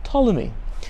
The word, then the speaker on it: Ptolemy: the ptolemies with the silent p-p-t-o-l-e-n-y ptolemy but pronounced ptolemy and ptolemy or one of the ptolemies built